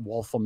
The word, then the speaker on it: Waltham: He goes, I know what Waltham is. I said, oh, it's actually pronounced Waltham.